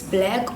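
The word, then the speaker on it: 6lack: Oh, because of the 6 being a B, okay.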